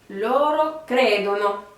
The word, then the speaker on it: credono: Pareil que tout à l'heure, on accentue bien la première syllabe. Donc il croit. Loro credono.